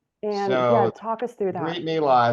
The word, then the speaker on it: Brit Milah: Brit Milah, it's also called, a lot of American Jews call it bris, which is another way of pronouncing it, is the ceremony where the foreskin is removed.